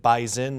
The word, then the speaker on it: Bison: North Dakota State uh now they like to pronounce it bis in not bison is that right yes